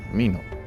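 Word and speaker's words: 蓑: This mi means fruit, seed, but the straw raincoat that Dokan requested is pronounced mino.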